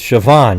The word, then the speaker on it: Siobhan: I'd like to now introduce Una. You get that right? It's Siobhan, you idiots. How could you ever pronounce it any way else than that?